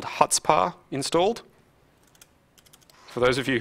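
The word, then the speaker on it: Chutzpah: I have a thing called HutzPar installed. For those of you who haven't practiced your Jewish lately, it's spelled like that with a C on the front. You just don't pronounce the C.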